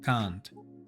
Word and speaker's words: can't: Y la versión contraída, pon mucha atención es con a larga. ¿Por qué te pedí que pusieras atención a cómo se pronuncia el negativo contraído can't?